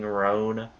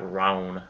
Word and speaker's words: rune: Oh, schematic master demon slaying rune. Rune, not roan.